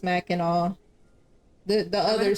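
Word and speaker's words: Mackinac: guess the fudge is more important honestly yeah Mac andau it's pronounced Mac andau the the other C I'm G to call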